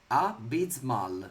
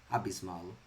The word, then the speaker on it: abysmal: Abysmal is the pronunciation. Abysmal. Like an abyss.